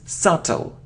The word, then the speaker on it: subtle: okay it isn't soft oh no we don't pronounce it it's subtle subtle it isn't hair oh hi no it's